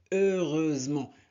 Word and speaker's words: heureusement: Heureusement. H ne se prononce pas.